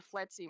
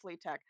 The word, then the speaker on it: FLETC: least in terms of the FLETC model, which apparently is how you say it. It's not Fleet Tech.